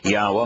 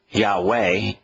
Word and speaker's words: Yahweh: in the first person but haa according to yahwah himself and he ought to know it's his